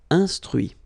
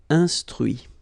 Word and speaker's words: instruit: Instruire, instruit. Okay, so you can notice that even if I put this final T, so as usual, I don't pronounce it. Okay, conduit, construit, cuit, détruit, instruit.